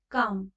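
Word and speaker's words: calm: तो 77 का आंसर हमारा 3 सही होगा, काम। काम जो है वो उसमें एल जो है वो साइलेंट हो गया।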